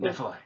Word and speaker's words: Nephilim: Or is that how you pronounce Yes. it? Nephilim.